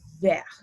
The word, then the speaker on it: vert: green and the french word for green is ver there we go there so at the end